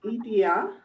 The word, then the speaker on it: idea: me me fasina and can you say the pronunciation again it's uh idia idea and that is the punch idea actually punch punches the same syllable that we do we say idea but